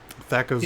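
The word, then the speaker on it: THAC0: THACO's good. It says so much with such a stupid word. Right? That ends in a 0, pronounced O.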